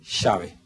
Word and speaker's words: llave: de vodol dirían llave y en Argentina se dice Chave y específicamente se escribe igual y se va a escribir siempre igual excepto que ocurre ecatombe pero pero se va a seguir escribiendo igual pero se expresa distinto Y esto es el